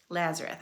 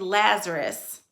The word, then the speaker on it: Lazarus: story of this person named Lazarus Lazarus sorry Lazareth I keep saying his name wrong it's not La Lazareth it's Lazar okay here we go a man named Lazarus who is living in Bethany became sick Bethany